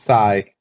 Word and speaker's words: psi: Yes, that is Psi.